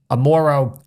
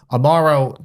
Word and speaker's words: Amaro: Violet hour which is a bar in Chicago Amoro Amaro Amaro Amaro excuse me guys for pronunciation Amaro became very popular in that area probably about